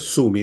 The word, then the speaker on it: Sumi: Sami o Sumi, se escribe Sumi, yo voy a decir Sami, pero en el fondo es Sumi, digámoslo en castellano.